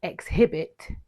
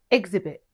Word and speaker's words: exhibit: Don't say exhibit, say exhibit.